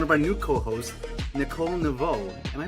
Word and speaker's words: Neveau: I know you asked me on the chat form to spell it phonetically and and I wasn't quite sure. It's Nau.